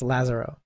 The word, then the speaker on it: Lazzara: Lazaro lar oh no there's an accent on the a so it's Lazaro it's like Lazarus that's that's the way you'll figure it out Paula Lazaro like Lazarus